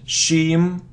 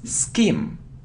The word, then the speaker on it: scheme: It isn't shim, shim, no, it isn't shim, it's skim, skim, skim.